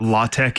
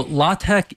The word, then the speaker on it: LaTeX: don't know what that is or even how it's spelled can you give us the the quick answer to what law Tech is and why you need it sure yes so law Tech is a text formatting language it's based off